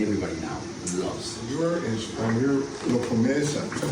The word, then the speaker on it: La Promesa: You're La Promesa. Is that how I pronounce it? La Promesa, yes.